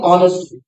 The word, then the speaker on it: honest: तो ये, हाँ, एक शब्द आया, अंजू सिंह लिखे ऑनेस्टली। अंजू सिंह जी, ऑनेस्टली जो है, ठीक, इसमें साइलेंट वर्ड का इश्यू।